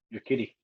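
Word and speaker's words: Urquidy: pronounce his name right your key your kitty that's right all right i got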